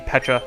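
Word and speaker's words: Pecha: I am pretty sure it's supposed to be pronounced Pacha because it's like a pun on Peach but it might be Peta I don't know I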